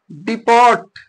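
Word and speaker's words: deport: debut मीस प्रथम प्रवेश अगला वर्ड है डिपोर्ट क्या लिखा है डिपोर्ट लिखा गया है लेकिन होता क्याय डिपो होता है क्या होता है डिपो होता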